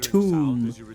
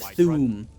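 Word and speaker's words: Thu'um: tempted with Nord words pronounce the th as just a t instead of a like tomb instead of thumb that was the voice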